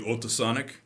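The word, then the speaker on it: Otesánek: So, the name of the fairy tale is simply Otasanek. That's spelled Otesanek, Otasanek. It's one word, and you will see what Otasanek is.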